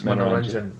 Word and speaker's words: Manoranjan: So Manoranjan, now did I pronounce your name correctly? Not sure. Yeah. It you said it right. It's Manoranjan.